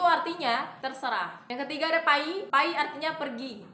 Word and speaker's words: pai: terserah Yang ketiga ada pay pay artinya pergi tulisannya itu p a i bacanya P bukan p tapi p Yi itu pengucapan yang benar pa y artinya pergi yang keempat